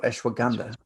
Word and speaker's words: Ashwagandha: There's also ashwagandha coming out of India, and that's proven to reduce inflammation. Ashwagandha or ashwagandha?